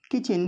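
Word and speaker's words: kitchen: किचन, किचन में T silent है।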